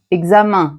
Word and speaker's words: examen: Fa examen qui est un mot latin. Examen. Parfum qui est un mot latin. Parfum. Donc ces deux mots un peu particuliers se prononcent un.